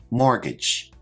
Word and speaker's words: mortgage: term is mortgage now this word has a silent T which I've highlighted in the word let's check our pronunciation mortgage a mortgage is like